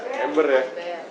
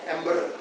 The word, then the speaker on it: Amber: kotember ini belum ember tulisannya bukan ember ember Amber bacanya Amber nah namanama jawarinya namanya